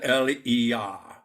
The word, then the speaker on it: Elijah: want to say that I am using the English pronunciation of these names because probably he was not called Elijah in his country he was probably called elah elah and elah actually has